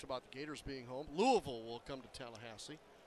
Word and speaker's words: Louisville: the Gators being home Louisville will come to talahasse said it right Louisville Louisville it's kind of syllable in a half all right Heyman back